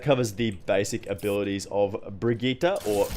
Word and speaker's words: Brigitte: like whatever you prefer not actually a hundred percent how you're supposed to pronounce that name daddy Jeff in the overwatch the overwatch introduction video basically called her Vegeta so I'm gonna call her Bridget there's pre-k that sounds it's a Swedish name it's not something that